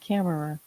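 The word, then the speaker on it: Kimmerer: of plants by Robin Well came it's actually pronounced Camarer.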